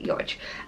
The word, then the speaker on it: Yodge: But Yodge, I always assume I'm saying that correctly. No one seems to have corrected me at this point, so I think that's how you pronounce it. It's Y-O-J, Yodge.